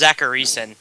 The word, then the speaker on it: Zachariason: pretty sure it's Zacharyson. Zacharyson. It is Zacharyson.